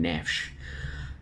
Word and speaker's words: Neves: brief insight on ruben neves or hear the portuguese pronouncing ruben nesh sent midfielder uh predominantly